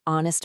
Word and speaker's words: honest: The answer is an honest mistake. The H is completely silent, leaving us with a clear, strong O vowel sound right at the front of the word.